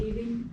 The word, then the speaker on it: leaving: So we have a pronunciation thing, living and leaving, living, leaving, living, leaving. E, living, leaving. Okay, so this is I. This is E. Can you hear a difference? Yes. Oh my, it's a big difference, isn't it?